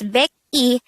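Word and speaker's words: 백이: is just shape e next is 102 this is just pronounced as big e and not e last example is 1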